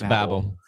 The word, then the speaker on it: Babel: It's Babel, Tower of It's Babel. Sorry, Alex, you I have. always say Babel.